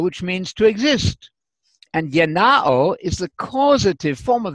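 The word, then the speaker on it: γεννάω: To beget, the Greek word is yenao. I'm using the modern Greek pronunciation, which is what we taught and teach at Atlanta Bible College.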